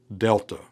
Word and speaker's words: delta: Delta is going to have a D sound. Dog, door. Same pronunciation as we have in English.